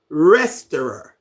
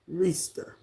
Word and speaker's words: Reister: You say it like Resterer. Oh, Rester. Rester. Oh, Rester. But it's Reister.